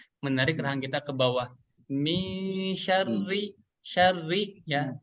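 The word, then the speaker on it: شَرِّ: Min syarri ya. Syarri. Huruf ro yang berharokat kasroh dibaca tipis ya. Tarkik ya. Syarri bukan syarri tapi min syarri.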